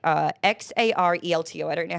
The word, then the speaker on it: Xarelto: Bayer, which manufactures branded drugs like XARELTO. I don't know how to pronounce that.